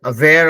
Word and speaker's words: aware: से स्टार्ट होता है, उसका प्रोनाउंसिएशन अ होता है, अगो, अवेयर, है ना। तो जैसे यहाँ पे भी ऐसे है, मतलब सब बीइंग अवेयर ऑफ समथिंग, तो अ प्रोनाउंस करें, अवेयर।